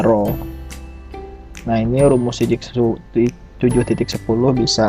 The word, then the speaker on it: rho: Supermen rank adalah ee rho ya jadi simbol ee seperti P kecil gitu ya tapi dibacanya rho nah ini Rumus 7.10